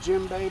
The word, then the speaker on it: djembe: You say it Djembe, but it's spelled D-J-M-B-E.